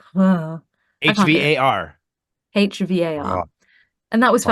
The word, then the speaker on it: Hvar: kind of pronounce some of the letters, and then you just suddenly just go like, Va, nah, va. I can't do it. HVAR.